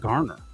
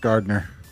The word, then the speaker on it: Garner: I had to make sure it was spelled without a D. Like in the Pittsburgh accent, that's pronounced Gardner.